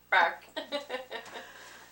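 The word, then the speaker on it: Burke: I said, "Well, how do you spell it?" He said, B-U-R-K-E. Bark.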